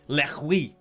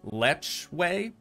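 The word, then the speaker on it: lechwe: not least the nile lehui i actually think it's pronounced lech way feel free to let me know down in the comments but we just sounds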